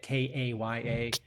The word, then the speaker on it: Kaya: How do you spell it? How do you say it? Kaya.